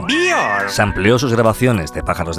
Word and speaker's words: Björk: El escritor y músico David Toop le ha prologado y ha hecho programas monográficos sobre su figura, y Björk, pronunciado Björk, sampleó sus grabaciones de pájaros de Venezuela en